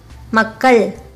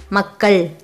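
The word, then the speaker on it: மக்கள்: While pronouncing it, your tip of the tongue touches the middle roof of your mouth. Together, makkal.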